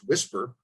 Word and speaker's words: WSPR: research so it's called weak signal propagation reporter which is pronounced whisper implications for anomalies research